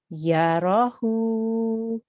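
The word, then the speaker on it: يَرَهُ: Okay, so we will pronounce this Yarahu.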